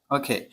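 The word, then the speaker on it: walk: যেহেতু আপনার নির্দিষ্ট ফোন এজন্য হয়েছে on phone ওকে ম্যান লট on phone লোকটি ফোনে কথা বলবে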